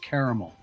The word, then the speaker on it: caramel: frankly don't care, and it is pronounced caramel.